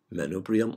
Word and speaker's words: manubrium: is the menoprium or you can sometimes pronounce it as manuprium or you can say manuprium manubrium or manuprium is the same so this is the